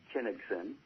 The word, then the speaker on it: Kinigson: you know I apologized and Sam pronounce and spell it one more time yeah Kinnison ki n IG xon and people can follow